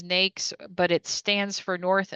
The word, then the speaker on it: NAICS: through NAICS codes and that's how we pronounce it is NAICS, but it stands for North American Industry Classification System.